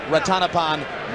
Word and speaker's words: Ratanapol: And incidentally, yes, it looks like Ratana Pauline. But we were told by those who speak Thai, and amazingly enough, we don't that it should be pronounced Ratanapon War.